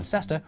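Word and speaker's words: Leicester: were too busy to pronounce all the syllables in sester reduced it to stir to save time but they couldn't read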